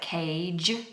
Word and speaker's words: cage: we have a g so in words like cage even though it's written with a G we sound it like a j um cage and similarly